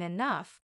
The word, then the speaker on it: enough: day I'll even understand why G can sound like f in enough the mysteries of English